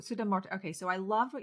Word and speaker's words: Sudha Murthy: And I love what you shared too about Sudha Marti. Did I say her name right? Sudha Marti? Sudha Sudha Murthy.